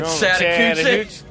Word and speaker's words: Chattahoochee: pronounced the Chattanoochee I or the need you to shut your beautiful mouth. Oh, hey, down yonder. The Chattahoochee.